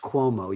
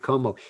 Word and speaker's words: Cuomo: By the way, Como, his name is pronounced Cuomo. You pronounced it Como.